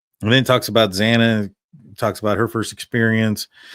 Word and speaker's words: Xana: And then it talks about Xana, talks about her first experience. Says, hi, I'm Xana, pronounced like Xanax, but without the X, and how petite and